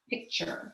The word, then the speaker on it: picture: those flip cards so t-u-r-e says sure it's also at the end of a multi-syllable word so we have pick and then we have sure picture here we have one